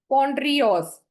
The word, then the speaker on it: Pondreos: ठीक है, तो इसको आप सेग्रीगेट कर सकते हो, पॉन्ड री ऑस, पॉन्ड्रियोस।